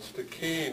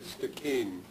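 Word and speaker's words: Stikine: Gitksan homeland, are called Stikeen in English, which is pretty close to what they're called in Somalia, except that it has a hard K, Stikeen.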